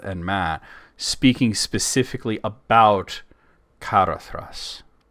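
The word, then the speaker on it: Caradhras: Well, at least he pronounced Karathas correctly.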